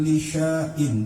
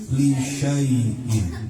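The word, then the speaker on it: لِشَيْءٍ: Di atas alif itu ada tanda bulat sempurna namanya sifron mustadir. Kalau ada tanda itu maka alif tidak berfungsi. Jadi bacanya bukan lisyain tapi lisaiin.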